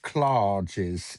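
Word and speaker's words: Claridge's: Apparently, if you're a regular at Clarages, you pronounce it clares. It's the way they can tell whether you're a regular or just sort of new money that blown in for a meal.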